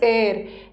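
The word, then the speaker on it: heir: pronunciation हेयर नहीं है इसका प्रोनंसिएशन इज एर एर का मतलब होता है उत्तराधिकारी लिख लो हिंदी में सक्सेसर उत्तराधिकारी जिसको वारिस बोलते हैं ठीक है वारिस है उत्तराधिकारी है तो इसमें एच साइलेंट है दिस इज एर एर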